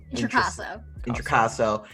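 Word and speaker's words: Introcaso: Intricasso.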